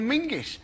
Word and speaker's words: Menzies: In fact, you should pronounce it John Mingus.